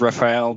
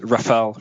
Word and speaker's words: Rafale: English speaker says Raphael, but just Rafale.